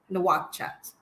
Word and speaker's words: Nouakchott: And how do you pronounce the capital city? That's Nouakchott. Nouakchott.